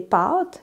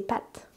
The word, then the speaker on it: pâtes: C'est le A accent circonflexe, qui est donc une voyelle plus longue, ou qui était une voyelle plus longue. Les Français perdent cette opposition. Donc, les Français, bon là, je m'éloigne un petit peu, mais les Français, pour dire des pâtes, comme des spaghettis, ils vont dire des pâtes.